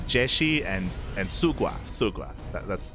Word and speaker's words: Jieshi: to say jaishi and we used to say um oh my God shigua I think no sorry was it oh God no what do we call him shigua I think and uh and she explained that it was uh jeshi and and sugua Suga